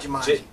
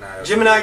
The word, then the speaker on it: jemiini: It's not Jumanji. Gemini TV.